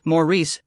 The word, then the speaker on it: Maurice: I had also seen Maurice, pronounced Maurice, Gardner, who was something